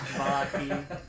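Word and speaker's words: Vallaki: It was uh that told me where um Valaki is. Yes. Yes. or you can say or I it's it's supposed to be pronounced vaki but I don't you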